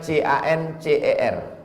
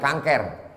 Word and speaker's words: cancer: Tulisannya C-A-N-C-E-R. Orang barat membacanya cancer. Orang kita susah menyebut cancer. Kenapa nih? Kanker.